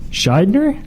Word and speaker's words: Shydner: Shydner? You said it right. Shydner with a D, N-E-R.